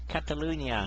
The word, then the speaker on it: Catalunya: I don't know how to pronounce it. Catalunya.